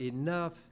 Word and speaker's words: enough: English is one of the most difficult languages to learn because that group of letters, O-U-G-H, in the word enough, it sounds like uff.